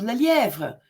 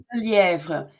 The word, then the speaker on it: Lelièvre: And that was Claude Lelièvre.